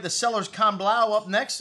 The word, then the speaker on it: Can Blau: all right the sellers can blow up next and this is seller's count blah blah that's how they say it anyways it's from monsanto